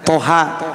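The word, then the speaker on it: طه: nanti juga ada misalkan Toha Nah kalau Toha cuma dua harokat kalau Yasin Ia hanya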